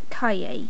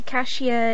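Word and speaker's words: cahier: r just a little lesson for you is pronounced kaye so imagine you're saying the word well the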